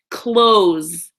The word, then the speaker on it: clothes: do with this is pronounce it like close as in open and the opposite close like I close the door right close close close so practice